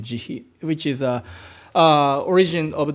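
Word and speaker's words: 慈悲: we have a word this is my Japanese pronunciation jihi which is a origin of the English translation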